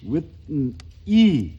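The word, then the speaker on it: Whitney: 근데 그게 아니고 그런 게 아니고 윗은까지가 그 한 발음이고 윗이 이렇게 발음을 해야 된다는 거야. 윗이 그러니까 그렇게 발음을 그런 식으로 끊어 읽기가 그 니은 N 발음 같아. 윗니 할 때 그 N 발음도 니의 초성이 아니고 윗의 종성으로 오게 된다 이거야.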